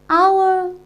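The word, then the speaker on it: hour: is consonantal later yeah edge is consonant later but when we pronounce this word H is silent and we pronounced we pronounce as our yes so our our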